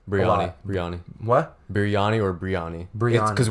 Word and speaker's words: biryani: birani's briana brianna what biryani or brianna bring it because when you spell it it's like a and b-i-r-y-a-n-i so it's birani but there's no h in there in the beginning after the b no